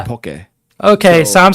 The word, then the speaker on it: poke: so that's okay so Hawaiian poke poke is actually poke okay so I'm saying